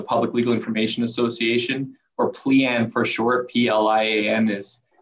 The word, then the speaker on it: PLIAN: sometimes mispronunciations of it we get a lot of plane and but pleian is is pretty easy to remember once you once you know how it's pronounced um you know i